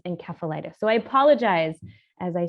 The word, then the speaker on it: encephalitis: lot of words and one of those words is encephalitis which i use a soft sea but um the proper way of saying it uh from the greek uh encephalose meaning brain is encephalitis so i apologize as